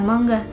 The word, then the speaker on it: manga: weird for us since it has the same pronunciation as mangga (Indonesian for mango) but in Japanese, the